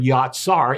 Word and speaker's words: yatsar: The third word is the word yatsar. It's spelled J-A-T-S-A-R.